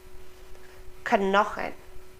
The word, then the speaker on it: Knochen: So unlike in English, where we would probably have a silent K, German pronounces both of them. Kn, Knochen, Knoblauch, Knote. We pronounce the K and the N.